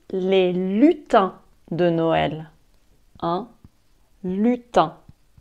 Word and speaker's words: lutin: lutins de noël un lutin lutin ça s'écrit l ut i n mais irene se prononcent 1 donc on dit un lutin et les lutins